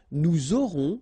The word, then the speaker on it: aurons: J'aurai, tu auras, final S not pronounced, il aura, elle aura, nous aurons, final S not pronounced, and then you make the liaison, vous aurez, a Z at the end here, et, aurez, liaison